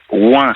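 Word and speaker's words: Oingt: dire, il faut absolument que vous alliez dans le petit village de Ouin. Ça s'écrit O-I-N-G-T.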